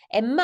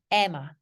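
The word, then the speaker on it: Emma: 스윔밍이라고 발음하시는 분 없잖아요 m이 두 개일 때 그래서 이거 그냥 스위밍이라고 발음하시잖아요 그렇다면 m이 두 개잖아요 자음이 두 개면 하나만 발음하시는 거예요 그래서 썸머가 아니고요 썸머라고 맨날 하시거든요 아니고 써머 썸머 summer met 아니고 써미트 써미트 써밋 이것도 엠마 아니고 에마 에마 그죠 그래서 이렇게 연결되는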